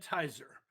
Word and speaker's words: Hizer: lie number two Kent tier was in favor of all the Draconian covid-19 measures simply because his last name rhymes with fizer and he got an